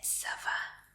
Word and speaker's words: ça va: Y se dice ça va. Ça va. Y se escribe así. Ça va. Sí, esta C es una C especial que se pronuncia como S.